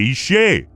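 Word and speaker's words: אש: lo cual causó que todos pronunciaran la palabra como Isha, mujer, en lugar de Ishe, fuego.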